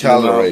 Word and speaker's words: Cagliari: I think on Football Italia I watch on Sunday, pronounce it with a silent G. Oh, that was yesterday's conversation Cagliari.